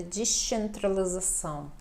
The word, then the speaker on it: descentralização: O C pronunciado mais com som de CH para nós, né? Descentralização.